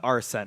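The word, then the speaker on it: Arsène: He's kind of Arson. cool. Arsene, it's actually pronounced.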